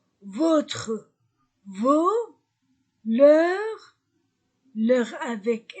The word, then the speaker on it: vos: Pluriel de notre, nos, votre, vos, leur avec S. Et je ne prononce pas la lettre S. Nos, vos, leur, maison, pluriel.